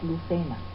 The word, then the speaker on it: Lucena: Luis Ramírez Lucena, pronunciado a la española, es el hijo de un alto funcionario de Aragón.